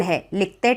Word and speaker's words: WHOLE: इसमें हम W का जो प्रोनाउंसिएशन है व प्रोनाउंसिएशन, व वाला साउंड नहीं निकालते। हम इस टाइप के लेटर को साइलेंट लेटर बोलते हैं।